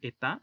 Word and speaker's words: État: La palabra État significa estado o estados, aquí está en plural porque tiene una S. La T y la S no se pronuncian.